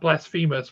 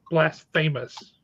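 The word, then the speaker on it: Blasfamous: Blasphemous from Distillery now it's spelled blast and then famous so not Blasphemous but Blas famous and that's by mer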